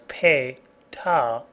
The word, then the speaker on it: PATA: PATA, pronounced as PATA, is the older and slower standard that has seen many changes.